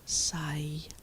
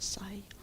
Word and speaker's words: scythe: Considering my wild yard, you recommend a sythe except in your tongue it sounded like sigh. That is how they say it in Shetland. Scythe is a sigh.